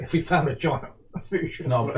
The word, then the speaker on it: fossa: Aren't they pronounced foosh? Yes, they are, but most English-speaking people still say fossa because we still work in English on things.